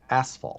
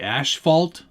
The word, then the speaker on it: asphalt: know beforehand traffic question how do you pronounce asphalt i pronounce it like asphalt yeah asphalt is there another one do people say ash fault as fault i don't know or